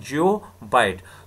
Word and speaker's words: geobyte: यहाँ पर हम लिखते हैं GB, लेकिन प्रोनाउंसिएशन क्या है, जियोबाइट।